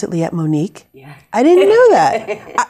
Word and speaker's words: Liette: the studio liet monic who has would you pronounce it let monique yeah i didn't know that you know i